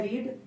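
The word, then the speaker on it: read: पढ़ना का होता है रीड तो रीड का रीड ही होता है बस इसका उच्चारण थोड़ा सा रेड हो जाता है बस ठीक है चलिए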